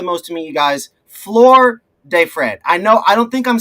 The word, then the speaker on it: Flōr de Fred: The reason why we added that mark above the O is so that people in English can pronounce it. In Spanish, it is Flor de Fred. Flor. So we don't expect everyone to roll that R.